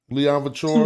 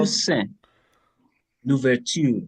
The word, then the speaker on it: Toussaint Louverture: Leon Couture. Toussaint Louverture.